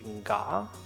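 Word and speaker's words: ヶ: They also use it in place names. I see. And I think in that it's pronounced ga.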